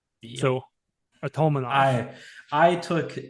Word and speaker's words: Artamonov: Most Russian last names, harder syllable in the middle, right? Yep. So Artamonov.